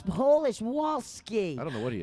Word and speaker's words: Wolski: Wolski. It's close. W. Spell Whoa. Whoa. it. Spell it. Wolski. Wol. Oh, there's an L in there? W-O-L. Wol. S-K-I. Ski. Wolski.